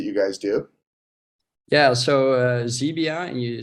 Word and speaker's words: Xebia: Yeah, so Xebia, and you spelled with an X, by the way.